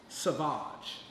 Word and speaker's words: Saváge: don't be P Red Rock her name is pronounced Savage remember that Sabah's you got the excited to